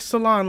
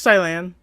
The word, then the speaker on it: Cilan: me so angry because I pronounced his name like salon like cilantro because he's a grass type leader and I thought that made sense for years until I found out the truth it's Thailand not cilantro like salon